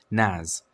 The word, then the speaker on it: NAS: A relatively affordable solution for file storage hardware is to use a network attached storage, or NAS, pronounced NAS, instead of setting up a dedicated server like you would other services.